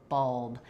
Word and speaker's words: bulb: number of people where I think bulb is particularly difficult. It's similar to words like dull or lull, gull also. This is one where I do actually think we pull it back more into the throat.